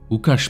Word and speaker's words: Łukasz: Alors en polonais, on prononce Łukasz Proza.